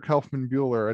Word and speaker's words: Kaufmann Buhler: design history of the american office so dr kaufman buehler and i should have asked you this before